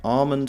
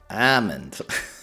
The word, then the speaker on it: almond: Silent L on west coast of US. Okay, so I was right. Almond for Bostonians. Armond.